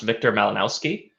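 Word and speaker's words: Wiktor Malinowski: I believe it's pronounced Victor Malinowski.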